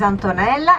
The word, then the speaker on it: Antonella: morning my name is antonella antonella can you repeat it and very easy to remember rhymes with the mozzarella that's another famous one